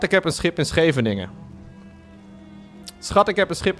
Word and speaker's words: Scheveningen: This would be pronounced as follows. Schat, ik heb een schip in Scheveningen. Schat, ik heb een schip in Scheveningen.